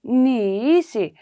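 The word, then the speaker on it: knee: pronounced as knife in nice it is spelled k-n-e-e but while pronouncing we only say ni right n-e-e will be pronounced k will be silent okay so in this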